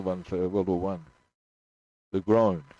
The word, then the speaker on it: Legrand: Legrand. It's actually pronounced Legrand. I was wondering if it was Legrand. Oh, Legrand. Not grown. Glone.